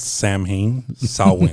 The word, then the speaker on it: Samhain: the right pronunciation it's samhain it's always it's always like saw and win correct correct amendment yes